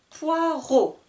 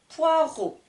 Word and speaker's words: poireau: à entendre la différence je vais essayer de prononcer correctement un poivron un poireau 1 poivron 1 poireau petite remarque le mot